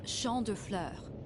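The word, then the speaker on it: Champs de Fleurs: just like I imagined Champs de floors how do you say that it's Shand FL it means field of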